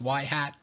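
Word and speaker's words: ŷ: little kind of like carrot on top it's pronounced y hat that's a predicted variable X is a real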